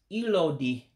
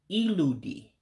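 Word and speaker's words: ịlụ di: To say you're married is ilodi. Excuse me, I said it wrong. Iludi is married.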